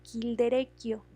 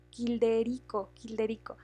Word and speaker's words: Childerico: Esto se encontró en la tumba de Childerecchio. Se escribe C-H-I-L-D-E... No, Childerico.